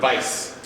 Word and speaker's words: Weiss: Just remember Weiss. If you see W, it's V.